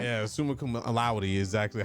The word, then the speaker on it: summa cum laude: I graduated sumo cum laude. Yeah. Is that how you say it? Yeah, summa cum laude is exactly how you say it.